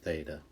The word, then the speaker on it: theta: line through it and we say that as theta okay i will tell